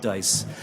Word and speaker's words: DICE: We pronounce it DICE.